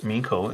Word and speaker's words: Meiko: she was a child, they didn't know how to pronounce this in the Japanese fashion, which would be Meiko.